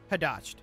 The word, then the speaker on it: Hadasht: In Hadasht? Is that how we pronounce that? Hadasht.